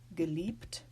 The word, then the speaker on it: geliebt: This exists in words like geliebt. You see we have this in a cluster of consonants. That will still be pronounced P.